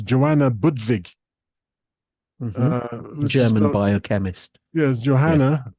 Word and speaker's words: Budwig: u d w g but of course the W in the German pronounce like a V almost isn't it like a yes buv yeah so she's got